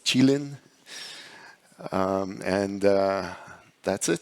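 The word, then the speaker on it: Qilin: think that's an appropriate name uh it's actually pronounced chilin um and uh that's it thank you excellent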